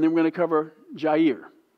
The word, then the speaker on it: Jair: He's the one we're going to cover, and then we're going to cover Jair, or Yair, how they pronounce it.